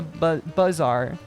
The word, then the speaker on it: Bazaar: I guess, like, it is pronounced the Bazaar. Like, Buzz Off or Buzz Aldrin.